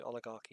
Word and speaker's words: oligarchy: Is that the right way of pronouncing Oligarchy. it? It's CH as a K, isn't it? So oligarchy, yeah.